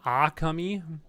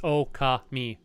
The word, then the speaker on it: Okami: minute oh uh yeah my understanding is it's uh it's okay me like you you don't put an emphasis on any of them but the way I